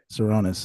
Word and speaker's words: Tsironis: Latest guest here, sitting across, I guess, virtually from TSIRONIS. Is that how you pronounce it? That is, yeah, TSIRONIS, a good Greek last name, correct?